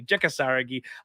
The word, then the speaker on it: Jeka Saragih: Jeka Saragih.